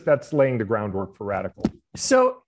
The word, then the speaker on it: RDCL: So radical is spelled RDCL.